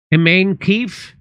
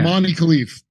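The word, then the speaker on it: Imane Khelif: Iman Khalif? Iman Khalif? Yeah. Imani Khalif.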